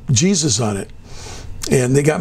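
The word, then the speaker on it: Jesús: My wife has got some Hispanic in her, and she said, that's not Jesus, that's Jesus. That's for all the Hispanic people.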